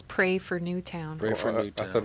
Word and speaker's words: Newtown: The sign says "Pray for Newtown." Pray for Newtown. I thought it was Newton. Is it not Newton? Oh, they've been saying Newtown.